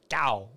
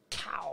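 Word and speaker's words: CAO: Gow. I actually don't think I've had a lot of their stuff. That's not how you pronounce it. Pronounce it? C-A-L. Gow. Nope, C-A-O. Cow.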